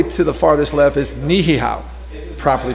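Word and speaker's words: Niʻihau: all the way to the farthest left is nihihau properly pronounced by the way that is one of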